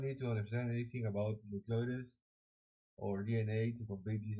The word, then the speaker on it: nucleotides: I need to know how to pronounce that word because I know that I will say constantly so nucleotides.